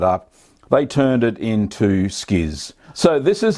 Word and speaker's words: Schiz: a Kurd nerds today we're making skis spelled c-h-i Z so Skiz is a an Italian